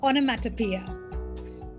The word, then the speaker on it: onomatopoeia: Onomatopoeia.